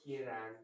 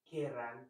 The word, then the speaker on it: querrán: no quieran, Non, attention à la prononciation. no querrán Très bien.